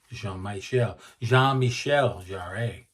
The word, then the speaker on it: Jean-Michel Jarre: Jean-Michel Jarre. Right. The French pronunciation.